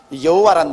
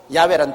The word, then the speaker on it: 야훼: 여호와란 말은 원래 올바른 히브리어 발음은 야훼입니다. 야훼란 발음이 우리 한국식으로 번역해서 여호와라 하는데 원래 정확한 발음은 야훼 하나님이신 것입니다.